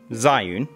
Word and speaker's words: Zhiyun: manufacturer fear this space that's june often pronounced zion and the new crane